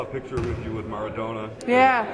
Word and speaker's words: Maradona: I saw a picture with you with Maradona. Yeah.